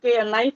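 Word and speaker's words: knife: जैसे कि यहाँ पर अंग्रेजी में नाइफ लिखा जाता है, वो के से शुरू होता है लेकिन के का उच्चारण नहीं होता, लेकिन हमारे हिंदी में जो हम जैसा लिखते हैं वैसे ही।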